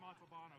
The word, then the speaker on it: Montalbano: Montalbano is how you say it. It's Italian.